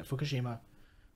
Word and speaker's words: Fukushima: Yeah, Fukushima.